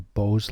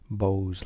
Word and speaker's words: Beau's: is not normal are bose lines kind of a weird way to pronounce that bose lines like the headphones bose headphones so these are not